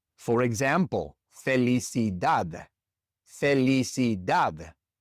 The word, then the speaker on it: felicidad: For example, felicidad felicid. This word ends with a d. It's not a vowel and it's not an n or an s. And so the stress naturally falls on that last syllable.